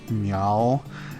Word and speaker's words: Miao: she was like yeah you're pronouncing it wrong it's meow and I don't remember